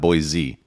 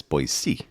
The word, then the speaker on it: Boise: a local now yeah it's not boy Z it's boy c yeah so I before